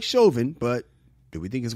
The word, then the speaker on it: Chauvin: Oh, Chauvin? Chauvin. Well, the guy that killed George Floyd, his wife left him. She filed for divorce. Are we cool with that? We don't like Chauvin, but do we think his wife should have left?